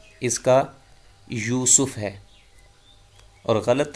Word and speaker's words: یوسف: وہ ہے لفظ یوسف۔ تو درست تلفظ یہ یا پہ بھی پیش ہے اور سین پہ بھی پیش، یوسف۔ اذ قال یوسف لابیہ